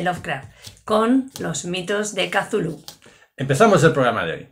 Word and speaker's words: Cthulhu: mitos de kazulu de chulu o de zulu bueno lo vamos a decir kazulu porque ya sabéis que habíamos tomado esa determinación que es la forma más canónica de de pronunciar el nombre impronunciable de este monstruo primigenio